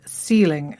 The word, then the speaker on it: ceiling: So we had 3 CE words there and they were all pronounced with a S sound. We had celebrate, centimetre and ceiling, and that's our second rule.